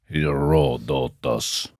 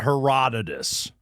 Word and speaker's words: Herodotus: But how do you go about pronouncing his name? Heroditus. Heroditus. Herodotus. Herodus. Herodotus. There you go. Not Heroditus.